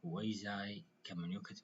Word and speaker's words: quasi-communicative: parts: structural activities and quasi-communicative activities. Structural activities, my dear students, it focuses on grammar. الفعاليات التركيبية أو البنائية تركز على النحو. While quasi-communicative activities وأما نشاطات quasi-communicative. Okay, it's pronunciation لفظها quasi communicative المشابهة أو القريبة من